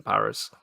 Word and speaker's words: Paris: Changing the zed in to Brazil, adding the zed to Brazil and not pronouncing the pronouncing the s in Paris or just naming a mountain in another country.